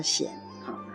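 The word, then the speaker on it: 单于: 做单于，迄个单就念作善，安尼善就是抱心加一个孤单的单。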